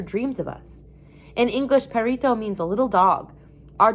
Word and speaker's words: perrito: Some people couldn't say his name right because you have to kind of roll your tongue to say the name of the two R's together. Not everybody can do that. We all tried to do it, to say perrito, like Tiago said.